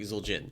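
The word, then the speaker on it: Zul'jin: like sure it's like zuljin like the the the apostrophe makes it clear that these are two different syllables you're not supposed to like mash them into each other that's fair but yeah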